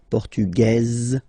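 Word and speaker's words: portugaise: portug you don't pronounce the S feminine form portuges you pronounce this Z sound okay and then remember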